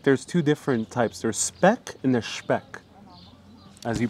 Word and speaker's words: speck: There's speck and there's speck, as you pronounced it. Oh, no. In Italian pronunciation would be speck.